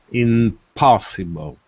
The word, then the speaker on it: impossible: letter O inoss inoss are you saying in or IM in like Naples or IM like Mother m m like mother okay good in impossible in in P the